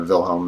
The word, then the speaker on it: Wilhelm: I keep want to say Wilhelm because I'm used to my great-grandfather Vilhelm. The German pronunciation Wilhelms. Well, see that's pronounced Vilhelm. Who knows?